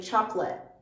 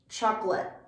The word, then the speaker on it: chocolate: a stopped t so we don't fully pronounce the t sound a native speaker won't often say chocolate that doesn't feel as natural or easy for us we'll say chocolate chocolate and we don't fully